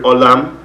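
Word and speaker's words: עולם: Oilem comes from the word in Hebrew, olam, which means world, and of course oilem is the Ashkenazi pronunciation of it.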